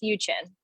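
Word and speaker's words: Uczen: Yes, it is spelled U-C-Z-E-N, so it's pronounced Uchin, like Uchin.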